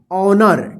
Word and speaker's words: honour: SOUR सावर, सावर देखिए, HONOUR ऑनर, क्या पढ़ेंगे इसको, ऑनर। देखिए आव उच्चारण नहीं होगा, ए वाला वर्ड्स नहीं आएगा, ठीक है ना। फिर भी हम यहाँ पे लिख दिए हैं ऑनर, ठीक है ना। तो इसको ऑनर आप पढ़िएगा, ठीक है ना।